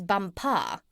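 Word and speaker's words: Bumpah: out there as the Crown Princess bumpa you accent the last syllable and tell me did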